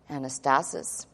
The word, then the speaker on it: anastasis: number 386 and let's write this out phonetically for you anastasis which is actually a compound from two words in the greek anna which is usually up and stasis which is to be raised up again from the dead resurrection